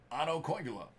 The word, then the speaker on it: Otto Koivula: Otto Koivula. Level 1 Spectrum FX Future Watch. There we go, that's how it's pronounced.